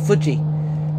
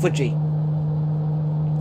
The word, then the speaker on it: Fuji: that's how you say fuji say after me fuji that's how you pronounce it because that's how you pronounce it in japanese fuji footy or something like